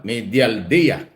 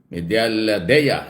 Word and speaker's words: Medialdea: Ayan naman pala eh Medel medal Dea ayan yun mo ung tamang pronunciation pala diyan Salvador medial del Dea medal Dea Yun po yung abogado